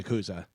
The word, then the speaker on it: Yakuza: Yakuza. Huh? Yakuza. Sounds- Yakuza. Akuza. Yeah. Yeah. Oh, really? Yeah, that's the way it's I'm pronounced. saying it wrong. Yeah, but we Americanize it and say Akuza.